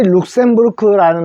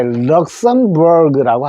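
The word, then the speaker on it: Luxembourg: 자, 그 다음에 우리 룩셈부르크라는 나라에 있을 때 이게 럭셈버그라고 합니다.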